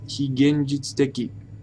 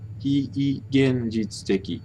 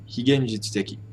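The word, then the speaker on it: 非現実的: I've noticed people tend to pronounce that as higenjitsuteki. Wrong, wait. Higenjitsuteki. Long he. Higenjitsuteki.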